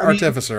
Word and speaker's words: Artificer: Is that how you say it? Artificer? Artificer? Artificer? I always thought it was Artificier. Is that Artificier? Whatever. No, Artificer, I think is the way you say it.